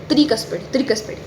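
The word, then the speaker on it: tricuspid: ट्राई इसको कैसे pronounce करो, त्रिकस्पिड, ठीक है, त्रिकस्पिड। और त्रि किस में आता है, स्त्री में।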